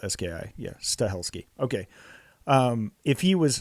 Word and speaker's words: Stahelski: it is s h e l ski yeah stahelski okay um if he was hired to do